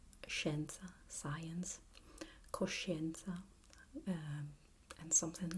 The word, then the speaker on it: scienza: So we have scienza, scienza.